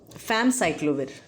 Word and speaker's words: famciclovir: So famciclovir, this is the right pronunciation.